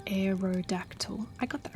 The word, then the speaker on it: Aerodactyl: And you say it like aerodactyl.